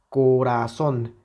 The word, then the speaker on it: corazón: ra y son Okay cuál de estas sílabas es la que suena más fuerte corazón corazón evidentemente la sílaba tónica es la última sílaba okay porque vean si quitamos la intensidad a la última sílaba tendríamos corazón corazón ya no es lo mismo que corazón entonces evidentemente aquí está la